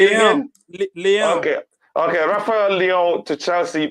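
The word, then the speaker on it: Leão: Leo. How do you say it again? Leon.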